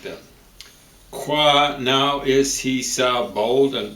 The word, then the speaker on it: nou: Qua now, I think it's why is he so bold and broad to dare to enter in? Qua, no, now. Now is spelled N-O-U.